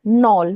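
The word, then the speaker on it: knoll: Next है नॉल। नॉल के एन O double L नॉल। यहां पे के साइलेंट रहेगा।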